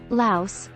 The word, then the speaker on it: Laos: tech savvy population Laos Laos pronounced without the s a landlocked country in